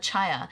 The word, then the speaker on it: Chhaya: The H sound is the same thing with Chhaya. So it's not Chhaya, it's Chhaya, because the H is there, but when you say it together, it's Chhaya.